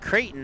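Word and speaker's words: Creighton: the name pronunciations and when I was talking to him about dare dare and he's like kraton and then I went and spelled it out as C re i g h t o n he's like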